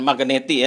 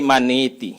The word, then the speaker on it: Magneti: 5 bulan lah jadi karena ini bahasa Itali bacanya bukan magneti ya tapi maniti gitu maniti mareli men oke